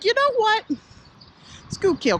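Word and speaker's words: Schuylkill: to tell that you're from Pennsylvania you could pronounce certain things like School kill Conshohocken and Contra Hawkins is actually a town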